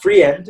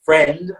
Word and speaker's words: friend: uh good uh friend it's not it's not free end it's friend okay it's just it's just